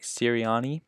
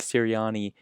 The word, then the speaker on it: Sirianni: And staying in that NFC East division, the Philadelphia Eagles have themselves a new head coach, Nick Sirianni, I believe is how you pronounce his name.